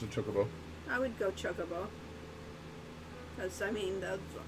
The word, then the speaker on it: Chocobo: Chocobo? Chocobo. Well, in Japanese, I understand that intonation is normally level, so it'd be chocobo. Very fast.